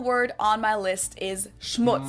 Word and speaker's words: Schmutz: but not least, the final word on my list is schmutz. Schmutz. This one is Schmutz. pronounced and used the same way in both languages, and it means dirt.